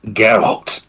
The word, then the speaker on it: Geralt: you don't sound yourself it's pronounced geralt geralt of Rivia power of the Warriors